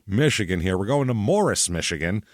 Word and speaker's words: Morrice: Morris Morris repeatedly so it's Morris at least according to the local news complain to your local news if there's a problem be Maurice yeah it's Morris but they said more ice is what I've heard other people say like more ice please that sort of thing